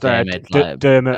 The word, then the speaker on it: Diarmuid: I think like it's pronounced Dermot. Yeah, it's Dermot. Yeah, Dermot. It's the Irish spelling of Dermot.